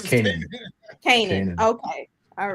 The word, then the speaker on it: Kanan: How do you Is it it's pronounce it's canon it? or is it Kanan? Kanan. No, it's Kanan.